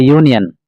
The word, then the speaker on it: union: Answer, Rajat has joined a union. The word union gives YU sound at the beginning.